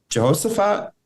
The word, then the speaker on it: Jehoshaphat: So this takes place between the reign of King Saul all the way to King Jehoshaphat, if I'm pronouncing that correctly. Mm-hmm, Jehoshaphat.